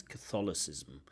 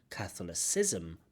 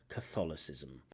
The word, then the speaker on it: Catholicism: root of Catholicism Catholicism Catholicism but actually it's Catholicism Catholicism so not Catholicism but Catholicism um again is that a big problem to mispronounce one word to have the word one